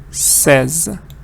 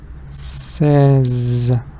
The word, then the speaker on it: says: I say but she says oops the more it's more like a five says you don't hear the a sound here let's hear the S